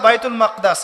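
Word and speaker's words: بيت المقدس: এবার এই বোরাক চলে গেল বাইতুল মাকদাস। এটা কোথায়? বাইতুল মাকদিস, বাইতুল মাকদাস না, বাইতুল মাকদিস। বিভিন্ন মানুষ বিভিন্ন উচ্চারণ করে।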